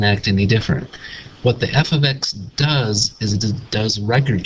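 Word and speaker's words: f(x): a different way of talking about it is f ofx is 3x - 2 and it's pronounced f of x and the next thing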